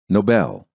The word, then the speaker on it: Nobel: stressing the wrong syllable stressing the wrong syllable sometimes creates misunderstandings because people think you're pronouncing a completely different word the following words are great examples of why syllable stress is such an important component of the American accent listen and repeat noble Nobel he won the Nobel Prize for his Noble effort invalid invalid the invalid